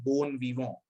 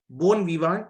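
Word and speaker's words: bon vivant: ऐसे इंसान को हम लोग बोलते हैं बोन वीवो। बोन विवांट नहीं होता, ये होता है बोन वीवो, ठीक।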